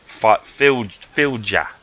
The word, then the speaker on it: fylgja: on Google to listen to how this is pronounced. I'm on YouTube and got a Danish person to say it. Fylgja, okay, the Fylgja.